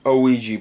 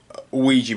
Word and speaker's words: Ouija: desk before okay i don't have an only oegy board ouija board no i said it right the first